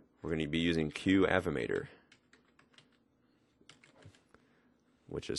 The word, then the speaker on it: Qavimator: to be using we're going to be using QF mater which is spelled like that q avi M ato R